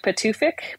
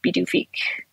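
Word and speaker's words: Pituffik: only an hour what's it called yeah it's spelled like patoofik but um pronounced by the greenlanders is be do feek yeah how come they changed the name so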